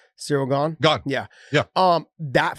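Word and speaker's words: Ciryl Gane: yeah is that how you say his name cyril gone gone yeah yeah um that fight but the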